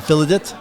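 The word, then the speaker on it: Filidh: Uh so, that's Filidit Publishing and you you spell it f i l i d h. It's a Gaelic word and they pronounce it Filidit.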